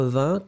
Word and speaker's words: vingt: chose donc la base ça va être 20 considéré que le g est totalement muet on en a déjà